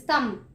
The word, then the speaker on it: thumb: It's knife and this is thumb. We do not say the letter K in knife and B in thumb.